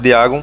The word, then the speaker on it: Dagon: sinceramente os humanos, enquanto Diagon meramente fingia ajudá-los. 36. O jeito correto de escrever Diagon não é que nem a pronúncia. Diagon se escreve Dagon.